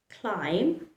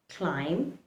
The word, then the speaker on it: climb: Remember, letter B likes to remain silent when it is following the letter M.